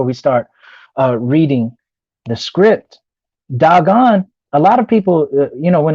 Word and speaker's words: Dagon: But nonetheless, there was an event called the Great Vowel Shift, and because of that, we say Dagon in the modern English, but the word is doggone.